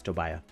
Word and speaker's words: Tobiah: I want it to be Tobias without the S, so it's Tobiah. Toby. The A is silent.